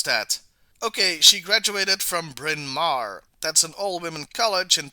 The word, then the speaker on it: Bryn Mawr: She graduated from, dear lord, I have to look up how to pronounce that. Okay, she graduated from Bryn Mawr.